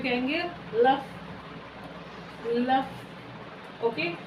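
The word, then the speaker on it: œuf: अब देखिए अंडों को हम फ्रेंच में क्या कहते हैं, अंडों को हम फ्रेंच में कहेंगे लफ, लफ। Okay, the pronunciation of this mixing of OME इज ओ, लफ।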